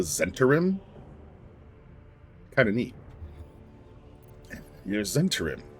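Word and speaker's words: Zhentarim: I do find it neat, too, because playing Dark Alliance, they pronounce it the Zentarim instead of the Zentim.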